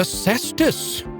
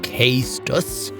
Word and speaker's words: cestus: Behold, the cestus. I hope nobody out there is calling it the castus, because that would be wrong.